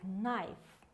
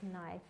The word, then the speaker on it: knife: we spell the word knife remember we spell it with k let me write in red will write knife or the word no these letters they are silent they are not pronounced and we have there